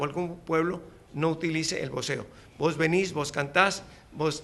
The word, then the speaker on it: voceo: putas, que es el voceo. El voceo, no el boxeo, porque aquí además como la X la pronuncian como la S, es difícil separarlo, y como la B se pronuncia como la B.